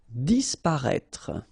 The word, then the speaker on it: disparaître: Disparaître, okay? So remember that we've got this accent circonflexe on the top of I, but then phonetically we don't pronounce it, so we get disparaître, disparaître.